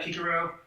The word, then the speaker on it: Cicero: Cicero. Yeah, Kikaro. Great way to pronounce pronouncing his name in the actual Latin, too.